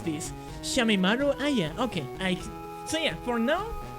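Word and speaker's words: Shameimaru Aya: Reporter Shamina, how do you pronounce this? Shamimaru Aya.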